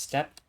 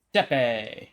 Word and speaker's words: steppe: Is it pronounced step with the E on the end? Silent E? Steppe.